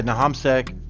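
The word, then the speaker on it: Nahamsec: Yeah, Nahamsek.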